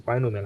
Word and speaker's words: binomial: That's the proper way to say it. It's binomial expansion.